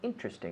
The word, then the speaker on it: interesting: find anything interesting again interesting remember three syllables interesting interesting interesting interesting during their investigation